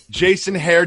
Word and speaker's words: Jason Hehir: are by the director of the last dance Jason hare Jason how does it feel right now it feels fantastic as you pronounce my name right for the first time